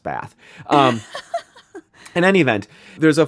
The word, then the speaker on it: Bath: Which that's just how I'm going to pronounce it. Bath. Actually, it's not. You're going to hear me talk about my Midwest Bath.